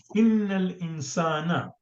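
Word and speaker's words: إن الإنسان: Innal insana. It is al-insan, but we say innal insana, right?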